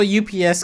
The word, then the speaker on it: UPS: It is pronounced UPS. I work with a lot of there's a lot of engineers that I hang out with on a regular basis, and they say ups. So it is possible that people have different